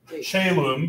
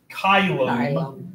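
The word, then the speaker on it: caelum: Because I had the question of, we say this word, chelum, because we pronounce this as an A sound, but if you took Latin back in the Dark Ages in high school, this is actually going to sound more like kylum.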